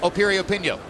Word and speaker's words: Piriyapinyo: the name begins with a P but it's pronounced Opie reopen yo go figure as we mentioned earlier what a